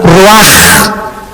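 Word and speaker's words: רוח: Y exhaló Isaac el Roach. Así como suena, se pronuncia la CH en hebreo como J, Ruach.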